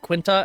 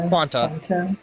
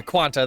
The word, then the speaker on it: quanta: is what's the word is it quinta energy quanta yeah quanta that's the word oh quanta energy not quinta yeah sorry I